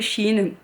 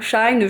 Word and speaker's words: Shein: Moi j'ai Shein, hein, Shine, je sais pas comment vous prononcez. Moi S-H-E ça fait She et I-N ça fait In, donc ça fait Shein.